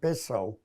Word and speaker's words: Bezzo: Bezzo. B-E-Z-Z-O. Some people pronounce it Bezo.